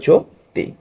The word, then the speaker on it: জ্যোতি: দু তরি স্কার দুতি আবার দেখি জ্যোতি বর্গীয় জ এর সাথে জ ফলা আছে এবং সেখানে এখানে কি আছে এখানে এই যে ওকার আছে যেহেতু ওকার আছে তাই সেটাকে আমরা জফল আকারে উচ্চারণ করবো না সরাসরি ওকারে উচ্চারণ করব সেক্ষেত্রে হবে যো তি বুঝতে পেরেছ কিনা অবশ্যই